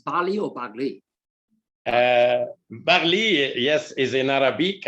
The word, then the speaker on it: Baghli: Baghli, how do you pronounce Baghli or Baghli?